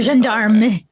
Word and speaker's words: gendarme: It should be gendarme. It's gendarme.